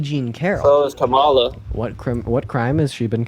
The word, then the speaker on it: Kamala: And then secondly, when she was running for her name is pronounced Kamala.